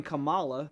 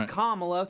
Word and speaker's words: Kamala: the wrestler Cala so we're all used to saying Cala but it's kamla sorry are bad everybody